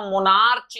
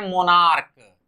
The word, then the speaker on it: monarch: कुछ ऐसे भी शब्द हैं जिसमें CH का उच्चारण क होता है, च नहीं होता। एग्जाम्पल के माध्यम से समझें, MONARCH, तो इसे हम मोनार्च नहीं प्रोनाउंस करते हैं, इसे प्रोनाउंस करते हैं मोनार्क।